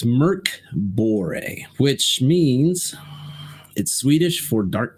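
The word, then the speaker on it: Mörk Borg: was all spelled out phonetically and how to pronounce it so yeah it's Merck bore which means Swedish for Dark Tower I believe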